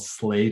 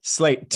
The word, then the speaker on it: Slate: i don't know if the way i pronunciate slate uh has changed but i no tell me what's what's the alternative pronunciation well a lot of people have assumed that i've been saying like we're called slay church like we're trying to be super hit hip or something slay church yeah can you imagine um